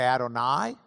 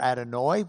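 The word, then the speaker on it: Adonai: You can add I unless you're Ashkenazi in which you'd add oi to the end and you could say adoni or adonoi which means my lord.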